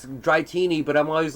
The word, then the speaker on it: Dratini: wrong which one Dratini but it's pronounced dry teeny oh really yeah yeah apparently it's dry teeny but I'm always like no Dratini it's like Arceus yeah